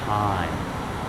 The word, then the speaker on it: time: But if we go ahead and if we put silent E there, that means now time, okay? What time is it, all right? Not Timmy. Again, silent E. Don't say it, but now you have the long I sound.